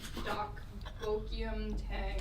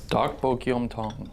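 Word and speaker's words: 닭볶음탕: Dakbokyum Tang, which is definitely not how you say it correctly. Well, if that's Here, wrong, Aaron is going to say it right now in the edit, the correct way.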